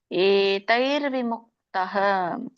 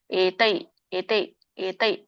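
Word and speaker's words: ಏತೈರ್ವಿಮುಕ್ತಃ: ತತೋಯಾತಿ ಪರಾಂಗತಿಂ ಇದೊಂದು ಉಚ್ಚಾರಣೆ ಏತೈರ್ವಿಮುಕ್ತಹ ಏತೈ ನೋಡಿ ದೊಡ್ಡ ಇದೆ ಅಲ್ಲಿ ಏತೈತೈತೈ ಅಲ್ಲ ಏತೈರ್ವಿಮುಕ್ತ ವಕೆಯಲ್ಲಿ ಅರ್ಕಾವಳಿ ಇರೋದ್ರಿಂದ ನೀವು ರ ಹೇಳಬೇಕು ಮೊದಲು ಆಮೇಲೆ ವ ಏತೈರ್ವಿ ಏತೈರ್ವಿ ಮುಕ್ತಹ ಕೌಂತೇಯ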